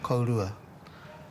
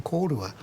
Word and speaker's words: kōrua: They They were saying kōrua, k o r u a. And I was saying kōrua.